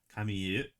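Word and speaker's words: Kamille: Um you know, uh the protagonist name is Kami and that's how they pronounce it in Japanese based off the French name Camille.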